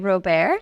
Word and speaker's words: Robert: Yes, Robert. Robert, last name is spelled like Robert. I always say the best thing that happened for me to explain my name to people was Steve Colbert being famous.